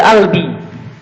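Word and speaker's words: قلبي: Terus terakhir, kalau misalkan Anda bilang IAC, jawabannya adalah Habibi Albi. Oke? Habibi Albi. Gini nih. Cuman orang Mesir nggak bisa bilang ko, tapi bilangnya a. Makanya ini kita bacanya pakai a.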